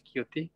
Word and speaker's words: Qt: Jadi contoh ya misalkan dulu ada teman dia kerja di Qt tahu ya kalau teman-teman Linux Qt bacanya Qt ya dari Trolltech dari perusahaan Norwegia itu.